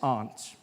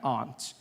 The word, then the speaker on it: aunt: For instance, I pronounce the opposites of uncle as aunt. I say my aunt out here, you say my aunt, which to me is an insect, which made me look